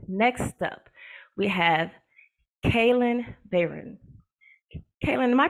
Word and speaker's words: Bayron: you all right next up we have kayn Baron kayn am I pronouncing your last name correctly that's perfect okay